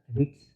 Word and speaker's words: REITs: REITs, REITs, real estate investment trust या REITs, जिसका उच्चारण रिट्स ये वे कंपनियां हैं जो कमर्शियल और आवासीय संपत्ति से किराया कमाती हैं और एकत्र करती हैं।